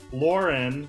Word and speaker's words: Lauryn: Very stoked for today's episode because we have my friend Lauren. Is that how you pronounce it, right?